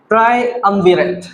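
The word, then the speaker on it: triumvirate: इसे हम प्रोनाउंस करेंगे ट्रायअम्विरत।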